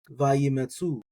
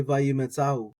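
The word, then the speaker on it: וַיִּמְצְאוּ: I think what you hear most people do is something like vayimetzu. I'm going to say vayimetzao. So I want to get that aleph in there. I like pronouncing my olives.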